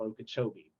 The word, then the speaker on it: Okeechobee: right outside of orlando and winter park called okeechobee oh and i hope i pronounced that correctly you did yes okay cool